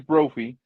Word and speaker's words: Brophy: Uh, Have I been saying your last name wrong this whole time? No. Okay. My name is Brophy.